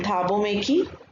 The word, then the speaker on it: Thabo Mbeki: The main character is Nelson Mandela, then Zenani, then Thabo Mbeki, the B is silent, and Mr.